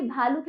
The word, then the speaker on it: भालू: पढ़ना है ठीक है जैसे भालू पुकार पुकार छोटी की मात्रा हमने जल्दी बोली भालू में बड़ी की मात्रा तो हमने लू उसका उच्चारण खीचा ये पाठ हमारा हुआ